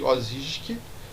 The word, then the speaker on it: Osijek: Essa é uma pronúncia difícil, porque é uma cidade croata. Vamos lá, cidade de Osijek, na Croácia.